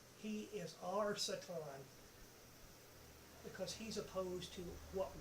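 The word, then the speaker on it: שטן: every other language in the world the word Satan that's how it's pronounced in Hebrew uh in English you would recognize it as the word Satan the word Satan is a neutral word and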